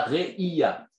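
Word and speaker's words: ראייה: Il y a deux mots en hébreu qui s'écrivent pareil mais qui se prononcent différemment. Il y a Réaya qui veut dire preuve. Et il y a Réia qui veut dire la vision.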